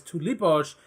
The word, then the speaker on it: tulipoj: But why it is tulipoj is you always put the accent on the second syllable.